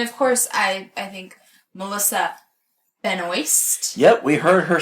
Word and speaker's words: Benoist: Hey, this is Melissa Benoist."